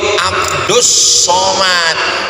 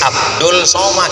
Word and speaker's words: Abdus Somad: meminta Sedangkan ini AB yang betul itu Abdus Somad tapi kalau menurut ejaan Inggris Abdul Somad jadi ini menurut ejaan Indonesia Abdus Somad Mana ada orang baca ayat allahul Somad itu namanya Idgham Syamsiah Allah mudah-mudahan Istiqomah